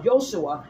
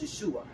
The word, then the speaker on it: Yeshua: not you um uh Yoshua yeah why no that's Yeshua that's Joshua listen y-a-s-h-i-a-n-h I always